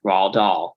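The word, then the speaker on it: Roald Dahl: mentioned my favorite writer R doll which is spelled r o l d o l l r doll it's a tricky name you know it's a it's not an intuitive spelling you know it's okay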